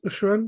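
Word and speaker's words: Abhorrant: so to speak Dan you really liked the aoran is that how it's pronounced from the fleshy courts yeah um auran yes uh so aside from the fact it's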